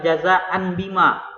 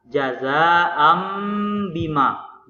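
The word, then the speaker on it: جزاءً بما: fathatain mba cara majunya bukan jaza and Bima tapi yang sebenar cara membacanya adalah jaza Ambi Mak bunyi dari and menjadi am jaga Ambi mafia itu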